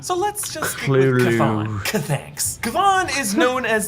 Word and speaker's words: Chthon: and eyes and flesh matching the appearance of Chthon.